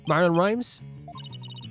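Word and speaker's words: Marlon Rhimes: Norma is nor wait am I saying the name wrong again nor de plume yeah okay good Marin Rhymes that is correct the day my client called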